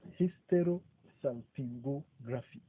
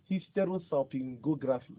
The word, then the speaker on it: Hysterosalpingography: Hysterosalpingography. Hysterosalpingography.